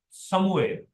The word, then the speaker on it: سموئیل: خدا کا سنا ہوا، اور صحیح تلفظ سموئیل۔ اگر آپ اگلی کتاب